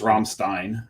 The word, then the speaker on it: Rammstein: But in German it's Rammstein, and that's the way that Greg's pronounced it.